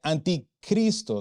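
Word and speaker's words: ἀντίχριστος: El sustantivo anticristo se pronuncia anticristo.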